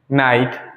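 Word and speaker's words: knight: Silent रहा है, हमने कहीं भी के का प्रोनाउंसिएशन नहीं किया है। No, knowledge, नाइट, knife, not, ठीक है।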